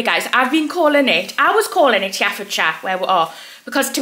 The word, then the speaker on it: Herefordshire: Herefordshire. So I'm very sorry. I'm very bad at pronunciation anyway, but that one's quite bad. Herefordshire.